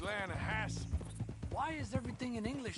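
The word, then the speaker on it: Lannahechee: The other day, I rode down to the Lanahechee River.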